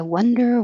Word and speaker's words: wonder: no direction or purpose one your jaw is very closed one wonder and 19 wand you have to open more wand okay let me say